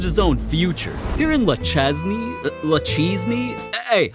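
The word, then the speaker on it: Le Chesnay: Here in Lachesney, hey, how do I pronounce this? It's Le Chenet.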